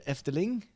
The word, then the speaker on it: Efteling: Chris cannot pronounce the Dutch name for the Efteling. It's not too hard. Efteling. Efteling, you can say F, you can say T, and Ling, bowling, Efteling.